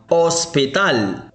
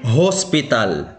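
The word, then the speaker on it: hospital: مثلا كلمة أوسبيتال أوسبيتال وهو مستشفى ولا نقول هوسبيتال بل نقول أوسبيتال.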